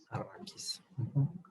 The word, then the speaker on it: Arrakis: Vinieron a quitar los matorrales que hay por ahí, lo dejaron todo para que pareciera, ¿cómo se pronuncia? Arrakis, ¿sí, no? Arrakis.